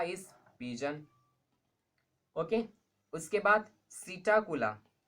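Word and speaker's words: Psittacula: Okay, उसके बाद सीटाकुला, सीटा स्पेलिंग में पी है बट पी is silent, सीटाकुला, सीटाकुला is parrot.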